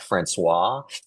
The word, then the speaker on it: François: It's Francois, not Swaah, as I've seen at Starbucks, even though it's pronounced like that. Francois.